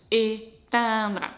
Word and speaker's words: éteindre: And I find it easy to pronounce because e fermé is very close to nasal e sound in terms of your lips position. So it's also your lips are spread, you kind of smile, but your lips are closed together, like e.